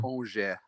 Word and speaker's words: Angers: Angers. That's how you pronounce it. Yeah. Sounds like orange, but yeah.